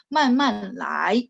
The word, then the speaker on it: 慢慢来: Sehingga lainya kadang-kadang orang China-nya bacanya ringan, nggak terlalu ditekankan. Man man lai, bukan ya. Jadi man man lai. Pelan-pelan, jadi dia bacanya nada 5, pelan-pelan saja ya.